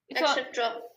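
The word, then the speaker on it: et cetera: Etc. Okay. Well, we don't make the X sound here.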